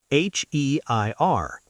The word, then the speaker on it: heir: H E I R.